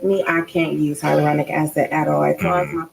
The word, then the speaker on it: hyaluronic acid: That's how do you feel about hydrolonic acid? Hyaluronic acid is right.